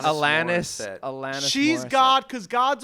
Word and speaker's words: Alanis: Alanis. Morissette. Alanis.